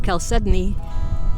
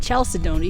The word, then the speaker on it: chalcedony: You know, up until about a month ago, I didn't know that's how it was pronounced. I always called it chalcedony because that's what it looks like when it's spelled. And I was kind of disappointed that it's not said that way.